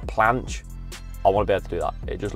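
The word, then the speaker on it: planche: after watching more videos I think it's pronounced like a a planch I want to be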